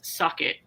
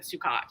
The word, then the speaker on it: Sukkot: Sukkot, or I don't want to say it's. I don't think it's suck it.